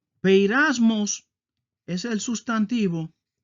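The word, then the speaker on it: πειρασμός: Así se escribe en griego y así se pronuncia. Peirasmos es el sustantivo y peirasó es el verbo.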